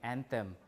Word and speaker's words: anthem: we spell thr t h r o n a n t h e m Anthem and author a u t h o r